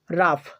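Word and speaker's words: rough: গ এর মত কিন্তু যদি জি এইচ শব্দের শেষে থাকে তাহলে ফ এর মত উচ্চারিত হয় যেমন রাফ রাফ টাফ টাফ কফ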